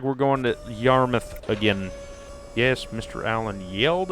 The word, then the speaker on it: Yarmouth: Well, not necessarily yelled at me, but he's like, you said Yarmouth wrong. It's Yarmouth, not Yarmouth. Yarmouth is pretty. No, it's Yarmouth.